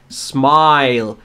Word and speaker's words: smile: درسته این حرف اس اما برای تلفظش در کلمه اولش ا اضافه نمی کنیم smile with a smile on